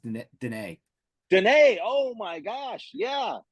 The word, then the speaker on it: Dunnett: It's actually pronounced Dene.